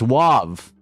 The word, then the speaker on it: Wav: It's Wav. No, Wav. It's Wav. I said it wrong. I know how to say it. It's Wav. You know how I remember? It's like wag your tail. That's how I think about it. I think about a dog wagging the tail.